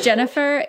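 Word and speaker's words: Jenwner: Yes, this is Jennifer. Yes, it's spelled J-E-N-W-N-E-R. The W is silent.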